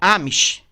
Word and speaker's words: Amish: Não, é Amish. É Amish. Eu acho que se escreve assim, ó.